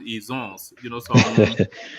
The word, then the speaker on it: Izon: I told you that the real pronunciation is Izon, is not Ijo. Yeah. But it's the British people that gave us Ijo.